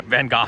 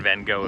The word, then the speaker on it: Van Gogh: I think it's Van Gogh, and we've also been saying it wrong forever. Yeah, Van Gogh if you're European, Van Gogh if you're not.